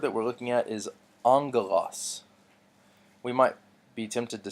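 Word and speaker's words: ἄγγελος: so this word that we're looking at is angle loss we might be tempted to say Agha loss and just pronounce that G twice but really this is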